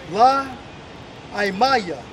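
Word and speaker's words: לא עמי: And if you look that up in the Hebrew, it's pronounced as La Aimaya, which means not my people, man.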